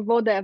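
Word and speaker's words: woda: Life we say well we pronounce water as a boulder and you know so you can hear Voda vodka like it's all these things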